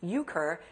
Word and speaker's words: euchre: h l e part two the card game pronounced euchre is actually spelled how begin your answer y-u-k-u-r